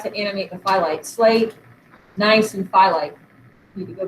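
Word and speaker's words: gneiss: know it doesn't this is literally pronounced nice the g is silent but you can see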